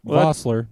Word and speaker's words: Vosler: Your last name is Vosler. And but I always say Vosler. Oh yeah, that's Vosler. That just sounds cool.